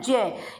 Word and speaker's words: ज्ञ: वैसे ज्ञानी भी बोलते हैं, ज्ञानी, लेकिन इसका सही उच्चारण जय होता है।